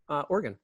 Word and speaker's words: Oregon: Dakotas, Montana, Idaho, and actually Oregon.